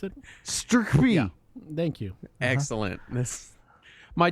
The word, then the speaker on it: STRCPY: Can you try to pronounce it? Sturkby.